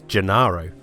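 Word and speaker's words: Gennaro: However, during the end credits of the movie, and how the characters pronounce her name in the film, and how it's basically registered everywhere else, it's Janaro.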